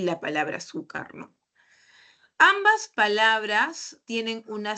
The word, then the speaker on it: azúcar: Entonces, en la lámina estamos viendo dos palabras, la palabra honradez y la palabra azúcar, ¿no? Ambas palabras tienen una sílaba que lleva la mayor fuerza de voz.